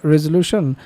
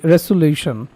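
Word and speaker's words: resolution: এরপর পত্রিকা থেকে রেজুলেশনের যে উচ্চারণ সেটি জানতে চাইলেন যে এটা রেজুলিউশন নাকি রেজুলেশন। আমি এটা উচ্চারণ করেছিলাম রেজুলিউশন। আসলে এর সঠিক উচ্চারণ হবে রেজুলেশন।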